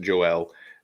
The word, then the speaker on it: Joelle: so Joelle it's his it looks like Joel but it's you pronounce it Joelle and Joel is Wayne